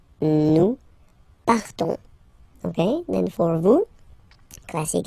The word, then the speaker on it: partons: So classic ending, O-N-S, you don't pronounce the S. You just have this on sound, nasal. Nous partons. Nous partons.